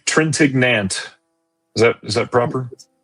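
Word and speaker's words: Trintignant: I'm going to say Trentignant. Is that Is that proper? It's Trentenant.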